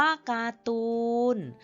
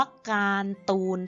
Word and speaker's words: การ์ตูน: คะ อ้า คำ ว่า การ์ตูน ถ้า รอ เรือ ไม่ มี การันต์ เมื่อ ไหร่ จะ อ่าน ว่า การ ตูน ทัน ที ค่ะ แต่ ถ้า ร เรือ มี การันต์ อ่าน ว่า การ์ตูน ค่ะ ขอ ยก ตัว อย่าง